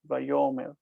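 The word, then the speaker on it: ויאמר: mer The accent is here. vay-yo-mer vay-yo-mer That's really everything. That's everything. The question is what's happening with the aleph. Indeed. Is that a vowel there in this context, more or less? It's not a vowel letter. What it is is that the aleph has lost its consonantal nature, and it's simply disappeared. All right. So, you don't You don't use a glottal stop.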